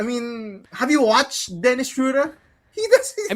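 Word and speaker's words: Schröder: V never should have given Shura and I'm I'm pronouncing it right.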